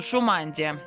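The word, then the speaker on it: Шумадия: Или Шумандия, Шумандия, скорее всего, потому что ударение у них всегда на первую букву. Гласно, Шумандия.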